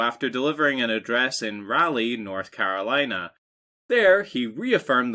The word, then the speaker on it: Raleigh: old rally sure um raleigh raleigh raleigh raleigh raleigh north carolina raleigh north kakalaka so we i've always pronounced it rally oh like a rally yeah like a rally like a rally car this is the show